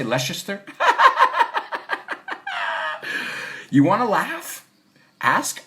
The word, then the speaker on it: Leicester: Edu says, no, it's like Leicester. Oh, Leicester. Did I say Leicester? You want to laugh? Ask Americans to pronounce British towns.